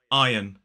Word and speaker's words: iron: not pronounce that sound we do not pronounce the r there is a silent R now common mistakes I